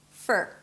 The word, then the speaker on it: for: And yes, it sounds just like the word fur, like a dog's fur, fur, fur. So it's an F, a schwa sound, and an R. There is no O in the middle, okay?